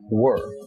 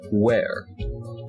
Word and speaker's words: were: commonly mispronounced words include the word were w-e-r-e which people pronounce as where i will show you